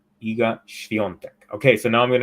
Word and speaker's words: Iga Świątek: So it's Iga Świątek. Iga Świątek.